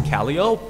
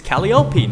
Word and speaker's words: Calliope: laws of English and you pronounce the P so I thought okay fine this cat it's Calio it's caliopi not not Calio okay